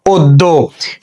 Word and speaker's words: অদ্য: তাহলে আমরা লিখলাম এখানে ও, দয়ের সঙ্গে জফলা আছে, তাহলে দয়ের দ্বিত্ব উচ্চারণ হবে, আমরা দুইটা দ লিখেছি, যেহেতু এর সঙ্গে কোনো কার চিহ্ন নেই, শব্দের শেষে একটা ওকার যুক্ত হয়ে যাবে, উচ্চারণ হয়ে যাবে কি অদ্য।